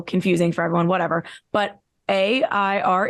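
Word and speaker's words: Aire: Kylie commented clarified it's air which to me means why put the e at the end to make this extra you know confusing for everyone whatever but a i r e is pronounced air and now it's like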